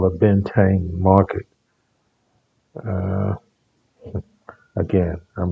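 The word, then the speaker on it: Bến Thành: We have their famous market which is called I call it Ben Thanh. I've heard it pronounced by some Vietnamese as like Ben 10.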